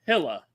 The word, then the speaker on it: Gila: Dr. Asamia says Gila is pronounced Hilla.